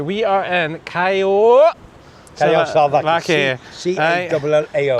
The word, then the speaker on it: Callao: C-A-L-L-A-O. I'm just going to call it the way I call it, Callao Salvaje. That's how I pronounce it. It's close enough.